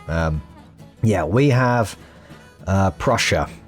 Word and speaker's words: Prussia: Um, yeah, we have uh Prussia is I think pronounced Prussia, not Prusia. Puera as I was saying it.